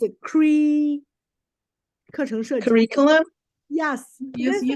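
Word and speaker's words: 课程设计: It's a 课程设计.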